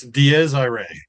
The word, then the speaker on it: Dies Irae: It's Dies Irae. Dies It's Irae. Okay, Latin. right, Yeah. right. Oh, yeah, it's right. And I'm trying to pronounce it in American, so English instead of in Latin.